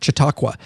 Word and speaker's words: Chautauqua: uh had a catered event at Chautauqua Park Chautauqua that's how you say it in Hot Springs